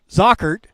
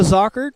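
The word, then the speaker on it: Zochert: Observing, recording affairs is Joe Zockert. Now I make sure I got that right. Got the CH, so now we got that, the hard C sound. So Joe Zockert, and he and Chris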